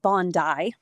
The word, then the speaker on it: Bondi: Um Bondai, as it's pronounced.